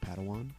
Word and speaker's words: Padawan: I believe it's pronounced Padawan.